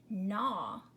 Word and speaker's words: gnaw: so it's Oh No the G is silent nah okay to null means to chew at something to chew on something to gnaw and then this last